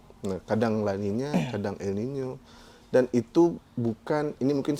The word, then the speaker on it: El Niño: Ada masanya laninya, kalau N-nya itu sebenarnya dibacanya La Niña ya, El Niño. Karena ada N-nya itu ada tilde-nya, ada truk di atasnya. El Niño.